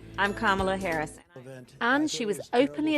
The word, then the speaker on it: Kamala: Kamala. It's not Kamala. It's not Kamala. But she still had to teach the country how to say her name. I'm Kamala Harris.